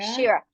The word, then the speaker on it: Sheera: Say, how do you pronounce it? Is it Shira? Shira. Shira. You got it.